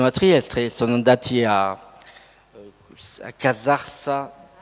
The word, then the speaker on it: Casarsa: Il viaggio proprio sono andati, è finito dunque vicino a Trieste, sono andati a Casarsa, l'accento è Casarsa della Delizia, e là hanno incontrato un bibliotecario che ha regalato molta documentazione.